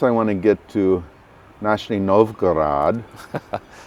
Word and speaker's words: Nizhny Novgorod: So next I want to get to Nizhny Novgorod. Yeah. Did I say it right? You said it right. Nizhny Novgorod.